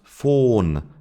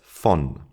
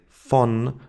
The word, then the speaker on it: von: The German word von should be pronounced von according to the rules, but it's not. It's von. We say von with a short O.